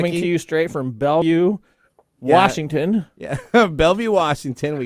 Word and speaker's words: Bellevue: It is Bellevue. Bellevue, Kentucky. Bellevue, Kentucky. So of all the names you want to pick for some unique place in Kentucky. Coming to you straight from Bellevue, Washington.